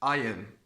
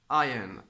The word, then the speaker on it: iron: and this exception is iron iron a followed by o which is a vowel but we do not pronounce the r it's a silent R ion ion ion why I